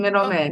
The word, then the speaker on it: Mitelman: And I have a special guest today, Mitelman. Did I pronounce that right? Perfect. Oh, Middleman, yes.